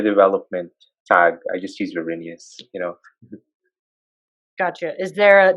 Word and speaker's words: Verinius: the name of your development company is it pronounced virenius is that correct yes it's actually just my